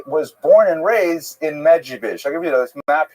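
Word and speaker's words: Medzhybizh: Medjugorje is the current Ukrainian pronunciation. You may have seen the Polish pronunciation, Medjugorje.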